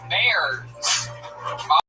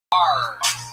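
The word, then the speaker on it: Bahrs: Bears. Bars. Spell it.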